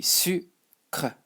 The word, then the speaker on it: sucre: and you just say sucre, The C is like for the K, so maybe you can imagine something like su, not su. Su would be like this, okay? So not su, but su. Sucre.